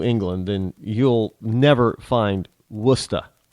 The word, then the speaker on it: Worcester: Now, if you're looking on the map and you're not from New England, then you'll never find Worcester. It's actually spelled W-O-R-S. How they pronounce it is Worcester.